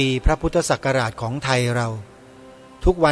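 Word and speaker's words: พ.ศ.: เนี้ย ก็ คือ ว่า การ อ่าน อักษร ย่อ พ พาล จุด ส ศาลา จุด หรือ พศ คำ เต็ม เรา ต้อง อ อ่าน ว่า พระ พุทธศักราช เป็น การ แสดง ความ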